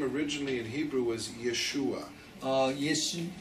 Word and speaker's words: Yeshua: His name originally in Hebrew was Yeshua.